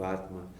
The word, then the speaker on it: Atma: It's a short A at the end of Atma.